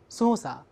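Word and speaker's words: 操作: 那么除了 dosa 之外，比如说操作 sosa。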